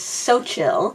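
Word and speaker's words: Xochitl: Sochill Gonzalez. Sochil Gonzalez. Sochial Gonzalez. Okay, so it seems like the consensus of how to pronounce his author is Sochill.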